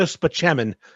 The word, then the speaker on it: Spaceman: be Dr Jones he's Dr speman but it's spelled Spaceman right Chris Parell is funny but